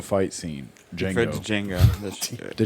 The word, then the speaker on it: Django: Uh, the Jango fight scene. Django. The Jango. That's the Jango. The D is silent right there.